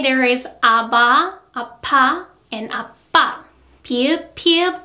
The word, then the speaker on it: 아바: Compare these two ones. 파, 아바. 파, 아바. 파, 아바. 파, 아바. If you think it is difficult, just think of how you would pronounce pin or spin in English.